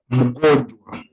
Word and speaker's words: mgonjwa: you can say niko mgonjwa. The word is go, then you bring the nja. Go njwa. Njwa. This last one come out as njwa.